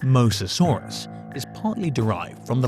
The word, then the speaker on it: Mosasaurus: Reptile That Ever Existed The name Mosasaurus (pronounced MOE-zah-SORE-usis) is partly derived from